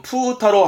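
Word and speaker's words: 風太郎: 바람풍자가 붙죠? 그래서 발음은 푸타로 합니다. 푸타로.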